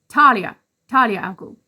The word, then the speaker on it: Talia al Ghul: Talia al Ghul, which I did know but for some reason mispronounced.